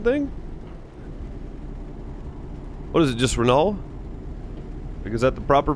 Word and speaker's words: Renault: without the l oh it's just renault renault like without the tea right yeah kind of